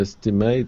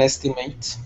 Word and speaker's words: estimate: So for the definition, I guess at the size or number of something, that is estimate. But if it's a verb, it's to estimate. So the last syllable is actually stressed.